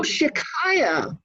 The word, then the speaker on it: Shechai Yah: Oh, Shikaya, okay. S-H-E, like she. Chai, C-H-A-I, which is Hebrew for light or life, okay, and then Y-A-H, Shikaya.